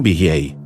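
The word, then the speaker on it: אֶהְיֶה: The Hebrew Ehyeh is pronounced the same as the Akkadian Ea, the name of one of the great gods of Babylon, none other than the Sumerian Enki.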